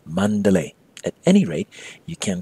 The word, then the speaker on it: Mandalay: spell and often pronounced Mandalay but in Burmese pronunciation it's Mandalay at any rate you